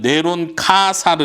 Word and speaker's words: 네로 카이사: 있도록 자세 썼는데 어 네로 카이사는 헬라 헬라 발음인데 이거를 히브리 발음으로 다시 음역을 해요 그러면 네론 카사르 이렇게 발음이 된다는 거예요 히브리어로 그리고 히브리어에